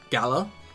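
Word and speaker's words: Galar: it's really annoying like I know the region's pronounced gala but a lot of time that keeps saying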